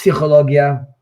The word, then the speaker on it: psychologia: psychological tool just because in Hebrew it's psychologia and the pay the p is pronounced but yes of course